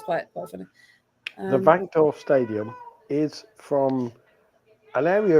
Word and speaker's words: Wankdorf: We are in the well, actually, I'll pronounce it properly. It's the Wankdorf Stadium.